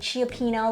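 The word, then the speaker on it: Cioppino: I made Chiapino last night. A San Francisco. Could you say that again? Chiopino? Chiapino? Is that Wow. how you pronounce it? I don't know. I think it's just Chapino.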